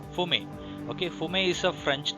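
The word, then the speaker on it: fumet: Fume is it's not fumate. It's should pronounce as fume. Okay, the T should not supposed to be pronunciate. It should pronounce it like fume.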